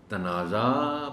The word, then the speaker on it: تنازع: اور وہ ہے لغت۔ آپ لغت دیکھیں، اس میں آپ جب اس کا تلفظ تنازع پڑھیں گے تو شاید تھوڑا سا حیران ہوں گے کہ اچھا یہ تنازع پڑھتے رہے ہیں، تنازعہ لوگ کہتے رہے ہیں، تو یہ تنازع ہے۔ روایت، یہ ان الفاظ